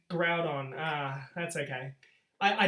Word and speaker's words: Groudon: that saying right group i've been saying it grew on my whole life have i been saying it wrong yes it's riled on groudon ah that's okay i